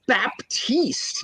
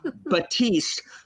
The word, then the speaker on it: Baptiste: supposed to know that literally the p is silent freaking plosives aren't silent like you can't silence stops so his name is it's Baptiste no Batiste Pinson no Paul Saul